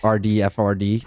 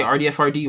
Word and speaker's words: Radford: Like, well, like, do you say it like you would say your last name, like RDFRD? Like, would you say like Radford? Yeah, you can either or. Either or. Honestly, yeah, you can say RDFRD or Radford.